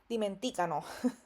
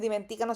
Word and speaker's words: dimenticano: Hay que estar pendiente con la pronunciación porque muchas veces he escuchado estudiantes que me dicen dimenticano y no es dimenticano, sino dimenticano. Esa es la pronunciación.